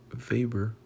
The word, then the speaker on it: Weber: Weber pronounced Vber a German so social socologist a German sociologist and economist promoted the pyramid-shaped organizational structure that became popular in large firms.